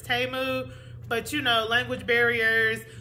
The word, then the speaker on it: Temu: and you like baby we've been saying t this whole time and I'll probably start saying teu but I'm pretty sure it's TAMU but you know language